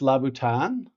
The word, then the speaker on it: Louboutin: Yeah, so I think it's pronounced Laboutin, essentially.